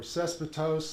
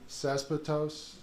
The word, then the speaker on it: cespitose: They are colonial or cespitose, that's the fancy botanical term. Just, you know, to drill the vocabulary home. Everybody say cespitose?